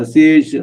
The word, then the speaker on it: assiègent: இந்த அசியேஷ் அந்த இஎன்டி உச்சரிக்க கூடாது. அது ஒரு கிராமட்டிக்கல் ரூல்.